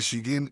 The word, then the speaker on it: ش: The letter sheen is pronounced when the middle part of the tongue comes in contact with what lies opposite to it from the roof of the mouth।